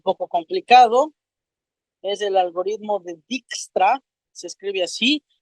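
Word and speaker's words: Dijkstra: un nombre un poco complicado es el algoritmo dextra se escribe así d i j k s r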